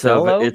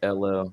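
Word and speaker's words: Salò: It's Cello? a Salo. How you spell it? S-A-L-O.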